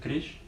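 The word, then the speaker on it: крезь: Крещ? Крещ. Крещ. То есть там же просто буква «З», поэтому я спрашиваю. Ну да, читается мягко, читается как крещ.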